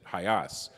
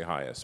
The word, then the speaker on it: HIAS: way that you pronounce our name like Henry pronounces it hias which is the way it was done in